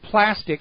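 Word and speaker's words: Plastc: now there is a company called plastic spelled without the ca p a STC it is a smart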